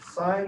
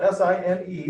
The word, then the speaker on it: sine: sine sine is spelled s-i-n-e the abbreviation for it is s-i-n now you see that s-i-n you read that as sine read it as sin if you want to